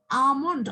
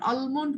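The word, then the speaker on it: almond: তোমরা কি ইয়ে বলো, আমন্ড অর আলমন্ড বলো? আমন্ড আর আলমন্ড? আমন্ডই তো হয় মিস।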